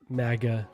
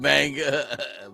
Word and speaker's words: manga: It's manga, manga, yeah. Yeah. Manga. There you Yeah. Not MAGA. Yeah. Or anime. Manga. Not MAGA.